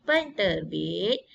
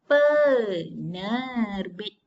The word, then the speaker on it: penerbit: Jadi penterbit bila dieja ditambah dengan imbuhan pen di hadapan dia akan jadi penerbit tanpa perlu eja huruf T, tanpa perlu letak huruf ta. Pada ejaan tidak ada apabila dia menjadi imbuhan pen tadi. Penerbit. Okey, faham? Dia akan jadi pener. Masuk terus. Penerbit. Dia tak jadi penterbit. Salah kalau penterbit tu bahasanya salah dari segi bahasa.